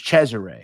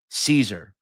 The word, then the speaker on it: Cesare: Now, I understand the Sicilian pronunciation is Chzure. However, for the sake of this video, I'm going to use the American pronunciation, Caesar.